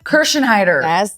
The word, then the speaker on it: Kirschenheiter: still weathering the storms with a housewife Gina kersen heider did I say it right you did I'm